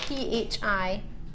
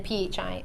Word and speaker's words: Phi: It's spelled P-H-I and then P-H-I, or Phi Island. Most people call it Phi Island.